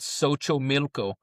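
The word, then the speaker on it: Xochimilco: So if anyone's listening, they go to Cancun, the tour is called So Milco and okay, when you XO, it it pronounces that way.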